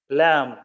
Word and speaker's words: lamb: something worth noting yes the letter B is silent we should say to look at some other words of this type com wom bomb lamb comb is comb is